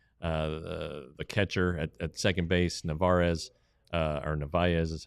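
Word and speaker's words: Narváez: Then he played the hop perfectly and got the catcher at second base, Narvaez is how it's pronounced.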